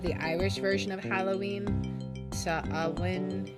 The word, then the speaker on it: Samhain: Samhain is how it's pronounced.